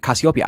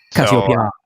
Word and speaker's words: Cassiopeia: Which is the wrong pronunciation, so I don't want to ever hear any of y'all out there pronouncing it. Cassiopeia.